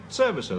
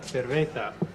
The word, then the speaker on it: cerveza: Servicer, that does mean beer, doesn't it?